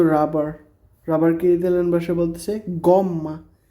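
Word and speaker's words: gomma: এটা একটা রাবার তো রাবার রাবারকে ভাষায় বলতেছে গম্মা জি ও এম ডব্লিউ ও এম ডাবল এম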